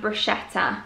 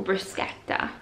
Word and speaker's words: bruschetta: And then I also picked up this one, which is a Brussels style pate with wild boar and bruschetta, or bruschetta as you meant to pronounce it.